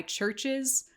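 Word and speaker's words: CHVRCHES: I looked it up it's a s by Churches which I always want to pronounce ches because they spell it instead of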